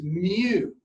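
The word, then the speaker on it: μ: a Greek letter and it's pronounced mu like what a cat does right so this is a Greek letter mu looks like a small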